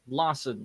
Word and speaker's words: Larson: It's Larson, like arson.